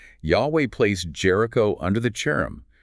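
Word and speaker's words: חרם: And Third, and most importantly, Yahweh placed Jericho under the cherem, which is pronounced K-Rem, the band of devotion to destruction.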